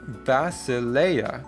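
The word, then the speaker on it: βασιλεία: The E and the I together make an A sound and the A makes an ah sound, ironically. So, we have basileia, which is kingdom.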